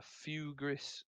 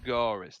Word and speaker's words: Fugaris: couple that with the, I don't know how you pronounce this relic, but the Fugris. I'm not sure how you pronounce it. Fugaris Helm. Fugaris, that's it. I missed a letter out when I wrote it down.